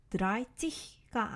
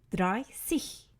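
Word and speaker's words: dreißig: 것을 볼 수 있습니다 그래서 30일 발음할 때는 드라이 찌 씨가 아니라 드라이 cc 라고 발음 해주셔야 합니다 그럼 10부터 9시까지 한번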